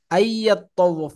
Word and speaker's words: أن يطوف: আইয়াত্তাওয়াফ বিহিমা মানে কেমন যেন এই নুনটা মাঝখানে উচ্চারণ হচ্ছেই না। হ্যাঁ, আইয়াত্তাওয়াফ, নুনটা মাঝখানে এই ঈদের ইয়ার সাথে ইদগাম হয়ে গেছে, মিলে গেছে।